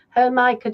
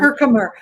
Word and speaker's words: Herkimer: Herkimer. We call it Herkimer here. But is that what you call it, Teresa, down south? Yeah, Herkimer? Probably I might say it wrong. I say everything wrong. No, but it comes from Herkimer, New York.